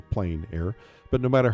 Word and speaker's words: plein air: open air or outdoors the French say plein air others say plein air but no matter how